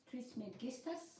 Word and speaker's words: Trismegistus: Greek, how do you say? Is it Hermes Trismegistus? Ο Ερμής Τρισμέγιστος. Okay, English version? Trismegistus. Trismegistus, is that all right?